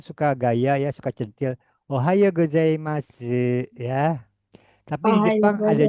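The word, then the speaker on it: おはようございます: Ohao u. O U dibacanya O. Ohao. Coba. Ohao. Oha. Ohao. Ohao. Ikuti saya. Ohao. Ohao. Ohao. Ohao. Goai masu. Masu dibacanya mas. Kalau perempuan boleh ya.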